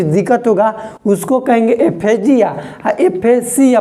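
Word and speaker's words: aphasia: एफेसिया pronunciation देखो, जिया और Siya. एफेजिया, जिया का मतलब घोंटे में दिक्कत हो रहा है, और सिया का मतलब कि डिफिकल्टी इन स्पीच।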